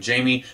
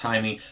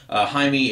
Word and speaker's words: Jaime: I'm sure at some point in this video I'm going to accidentally call him Jamie. That's how his name is spelled, but I think it's pronounced Jaime.